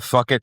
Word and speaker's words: Phuket: Phuket. It's not Phuket. It's fuck it. PH is F.